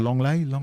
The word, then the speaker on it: Lenglet: Yes, that's pronounced Longley.